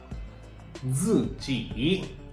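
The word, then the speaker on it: 自己: Zi ji.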